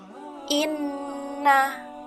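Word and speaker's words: إنَّ: Maka cara membacanya adalah didengungkan dan ditahan dua ketukan. Cara membacanya yaitu inna.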